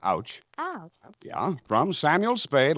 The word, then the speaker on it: Tauknitz: To Emil Tauknitz, that's A-U-C-H, sweetheart, pronounced ouch.